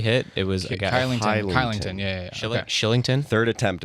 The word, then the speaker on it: Kylington: Killington, killing Kylington. Kylington. There we go. That's how it's pronounced.